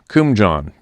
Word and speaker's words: Kumjian: Kumjian, pronounced Kumjan.